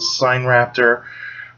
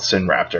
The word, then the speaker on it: Sinraptor: pronunciation for this and some people call it sign raptor but i like to call it sin raptor because i think it's